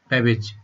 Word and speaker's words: Babbage: लीजिएगा, CHARLES, Charles, BABBAGE, बेबेज। ठीक है, बेबेज को तो आप याद रख सकते हैं ना, कैबेज से, CABBAGE, कैबेज, कैबेज मतलब बंद गोभी,